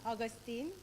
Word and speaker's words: Augustine: Karen, help me with this pronunciation. She's always correcting me. Augustine.